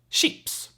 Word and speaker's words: chips: means luggage then we have c h chips sheeps sheeps right then we have